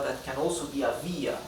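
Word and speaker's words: vía: strong vowel okay and since the the intonation the stress is on the letter i via therefore letter I carries the tilde again okay here we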